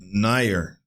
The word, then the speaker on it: Neuer: There isn't Ner. That's how he pronounced it. I said newer. So Ner single other player who has even come close to his Really?